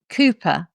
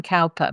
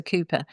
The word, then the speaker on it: Cowper: called Cooper, but actually it's spelt Cowper. So lots of people call him Cowper, but actually he's a Cooper.